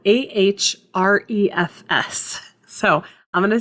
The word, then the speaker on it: Ahrefs: The next one is called Ahrefs. So I'm going to say that phonetically.